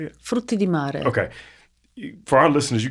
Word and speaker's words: frutti di mare: Is it the fruta de mara? How you say it? Frutti di mare.